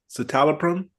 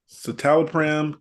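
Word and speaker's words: citalopram: Silro mean citol or pre I'm going to spell it c i t a l o p r a m satalopram satalopram satalopram okay this sounds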